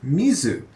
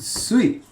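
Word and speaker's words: 水: So this has the symbol for water in it, but it's not necessarily always pronounced mizu. In fact, a lot of times it's pronounced sui, like suyobi, for example, which is one of the days of the week.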